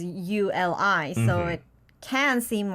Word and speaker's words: 우리: Not Right. uli, not uri, but uli.